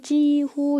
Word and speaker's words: 几乎: 특히 이 찌의 발음이 일성이라는 거예요. 그래서 거의 지후 이렇게 일성 읽어줍니다. 지라고 할 때는 우리가 숫자를 물어볼 때 몇이라는 의미로 썼을 때고 지후는 단어예요.